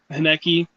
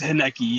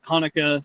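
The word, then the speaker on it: Haneke: Oh, remember the other day when we were talking about Michael uh Haneki? Know how to pronounce his name? Hanekki. It's It's Henecki. Yeah. Not Hanukkah. It's Haneki. Yeah, Haneki.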